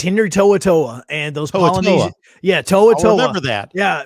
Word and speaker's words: To'oto'o: to saying polynesian names so toatoa is is how you say it and uh and it's